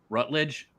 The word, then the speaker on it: Rutledge: When you say his name, Rutledge? Is that how you say it? Yes. Rutledge?